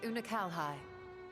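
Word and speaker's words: Unukalhai: of that world a useless void you remember unakalhai the unusual child we met during our troubles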